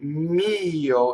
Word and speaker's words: mio: Mio is like io with an M before it. Mio.